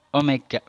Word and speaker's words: omega: Bacanya ini omega ya, simbolnya mirip dengan huruf W, tapi bacanya omega.